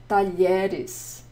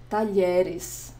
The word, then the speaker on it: talheres: Just ways to help you see what the LH sounds like in Portuguese. And here it is again, talheres, talheres, porta, talheres, porta, talheres, colher de pau, colher de pau, espátula, espátula, prato, prato, tigela, tigela.